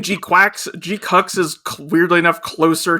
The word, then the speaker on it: GQuuuuuuX: I've tried to train myself to say G-Quacks so that I don't say G-Cucks.